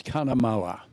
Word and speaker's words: Cunnamulla: It's Cunnamulla. They'll kill you if you go out Cunnamulla. How did I pronounce it, Cootsy? Cunnamulla. Oh, Cunnamulla. There's no D in there, mate.